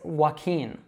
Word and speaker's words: Joaquin: So it's Joaquin, Joaquin. Now a good way to remember this is that it sounds like the verb walking.